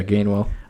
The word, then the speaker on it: Gainwell: think how do you say his last name gamewell yeah gainwell i think he is better than boston scott